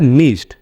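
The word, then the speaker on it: missed: मैं एग्जांपल देता हूं जैसे मिस्ड एम I double S ई डी तो इसमें मिस्ड डो यूज नहीं होगा इसमें टो होगा मिस्ड मिड जैसे आपका वास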